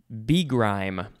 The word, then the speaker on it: begrime: Next we have begrime. Could also be pronounced begrime, but the emphasis is probably still on grime. Begrime.